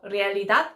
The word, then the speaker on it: realidad: 그리고 이제 명사들 중에서 뭐 땡땡땡 닷, 뭐 realidad 이렇게 끝나는 것들을 보면 닷 부분에 강세가 있는데 그 앞부분에서 realidad 뭐 어떻게 이상하게 읽더라고요, 제가.